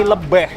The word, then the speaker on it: Lebih: Sini tulisannya itu Pantai Lebih tapi bacanya pantai Lebh.